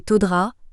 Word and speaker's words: Todga: Observer les comportements, relations et habitudes des gens du Todga, prononcé Todra, afin de comprendre les spécificités des différentes composantes de la population locale.